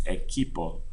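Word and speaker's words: equipo: teams ATO next eloo it looks like equip or equipment but it's actually team repo English speakers also sometimes read this word and want to Sayo no it's eipo okay phe phra La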